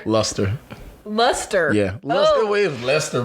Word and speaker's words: Luster: My mom said I'm not named Lester. Luster.